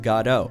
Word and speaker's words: Godot: I actually learned from my last video from a super awesome comment that I've been mispronouncing Godot. According to the official Godot page, it's pronounced Godot.